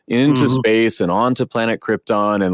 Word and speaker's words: Krypton: comes down to jorel who repeatedly mispronounces Krypton as Krypton because Brando couldn't be